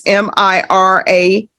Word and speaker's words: Miramontes: There's to be restitution to Isaiah Miramontes. I know my pronunciation may be off. It's Miramontes.